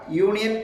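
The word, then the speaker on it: union: പക്ഷേ ഇവിടെ യൂണിയൻ എന്നുള്ളത് സ്വരാക്ഷരമായ യു ആണെങ്കിൽ പോലും അതിന്റെ ഉച്ചാരണ ശബ്ദം എന്ന് പറയുന്നത് വൈ ആണ്. യൂണിയൻ എന്നാണ്.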